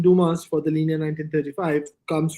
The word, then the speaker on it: Dumas: so hence in the Dumas in L 1935 yeah Duma is they tend not to pronounce the yes but I don't know